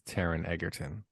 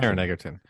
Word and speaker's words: Taron Egerton: I think it's Taron Egerton. I think that's how you say his name. I just like the last name Egerton. Oh yeah, Taron. I think it's Taron. Taron. Yeah, it's Egerton. Taron Egerton.